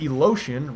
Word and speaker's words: Elotion: And coming in at number 7, we have Elotion, rhymes with ocean and emotion, if I'm not mistaken.